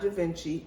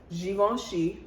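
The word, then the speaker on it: Givenchy: you who mispronounce it it's not javinci it's givon she a french designer not javinci an italian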